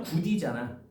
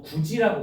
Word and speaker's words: 굳이: 연음을 해보면 굳디잖아. 근데 우리가 굳디라고 발음해. 저거 굳이라고 발음해. 굳이라고 하지. 어, 디귿이 지으로 바뀐 거야.